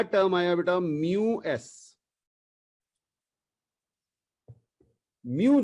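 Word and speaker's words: μ: म्यू जो है, हाँ, एम यू ऐसे प्रोनाउंस करेंगे इसे, म्यू एस।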